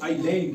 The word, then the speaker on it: isle: आइलैंड पढ़ना है, ठीक है? उसके बाद ISLE, यहाँ भी देखो आप एल से पहले एस है, यहाँ भी हमने एस को नहीं पढ़ेंगे, इसको साइलेंट रखेंगे और आइल पढ़ेंगे, ठीक है?